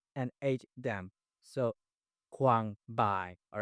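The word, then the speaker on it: bai: um a I so AI is pronounced as I and the first word would be b a i by all right b a i by a i for example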